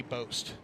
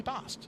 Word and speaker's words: Bost: I always used to thought think his name was Kenny Boast. Like Boast with the most, but it's Kenny Bost.